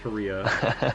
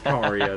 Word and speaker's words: Caria: and I'm just like, it's clearly pronounced Karia Manor. It's not Karia. It's not Korea. It's Karia.